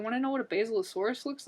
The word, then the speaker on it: Basilosaurus: And, okay, I think it's pronounced Basilosaurus. Like the plant basil? Like the plant basil, Basilosaurus.